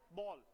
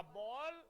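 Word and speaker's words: ball: की स्पेलिंग ठीक है बाल मत कहना इट्स कॉल्ड बल पैस बनाओ ना इसका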